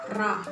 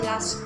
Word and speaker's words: ㄹ: Pero kapag nakita mo yung character na to sa last part, sa middle part, nakita mong double yung character na to, RR, ang pronunciation doon, la. La. So, dalawa siya ha. R, ra, and la.